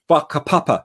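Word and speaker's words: whakapapa: culture they have a concept called bakka papa spelt with the wh papa which is their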